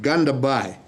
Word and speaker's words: Gandabhai: And the name, how do you pronounce it? Gandabhai. That's right, but you can call me.